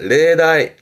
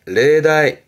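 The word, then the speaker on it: 例題: 발음은 레다이, 레다이.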